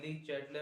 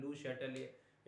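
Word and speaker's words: Le Chatelier: ली चैटलर principal, और उसका जो प्रोनाउंसिएशन और भी बहुत टाइप से होता है ना, लू शैटलियर एक फ्रेंच साइंटिस्ट थे तो उनके नाम से, तो लू शैटलियर कह सकते हो या ली चैटलर प्रिंसिपल।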